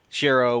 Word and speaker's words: Shiroe: Okay, so I'll just say Shiro because that's what I'm used to. But I started saying I feel like I have to start trying to say Shiroe because that's how they say it.